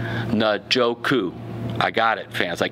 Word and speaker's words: Njoku: All right, Njoku. I got it, fans. I keep messing up his name. David Njoku.